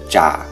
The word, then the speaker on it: trà: phát âm là /ʨ/ Âm tr trong giọng Nam được phát âm là /tʂ/ Ví dụ như từ trà trong tiếng Việt Trong giọng Bắc và giọng Nam đều phát âm là trà Trong giọng Bắc, r,